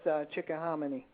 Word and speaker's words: Chickahominy: m i n y swamp yeah chick yeah chick hamony is down down near Richmond yeah I I'm familiar with Chickahominy okay all right so I I pronounced that correct yeah all right he want